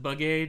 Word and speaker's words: Begay: Look, I pronounce it bugay just to try and like avoid the obvious pun.